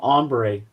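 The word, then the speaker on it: Hombre: He was in one called Ombre. Okay. Yeah, the H is that the the H is silent. That's a good one.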